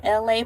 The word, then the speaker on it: ELA: I am LA, pronounced like LA, like the city.